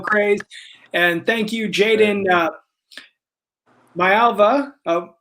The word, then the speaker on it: Maiava: And thank you, Jayden Maiava.